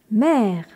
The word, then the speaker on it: mehr: m e h r avec le H qui prolonge le E mer on obtient n mer